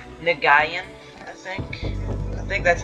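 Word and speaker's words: Nguyen: last name is that i said the name nagayan i think i think that's how you pronounce the last name he made he's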